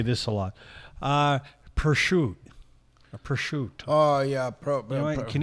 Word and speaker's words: prosciutto: Prosciutto. They cut off the vowel at the end. Yeah. Prosciutto. Right. The end is a O at the end. Prosciutto. Yeah. It's a three-syllable.